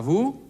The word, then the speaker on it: vous: Übrigens, wenn ich à vous sage, spreche ich auch ein S nicht aus, nämlich das S am Ende des Wortes vous. Auch das S ist am Wortende in der Regel stumm.